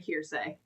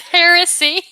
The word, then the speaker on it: heresy: time I've read this, I kept saying hearay. It's here. It's her. I almost said it wrong. It's heresy. Heresy. Like a hair like a heretic.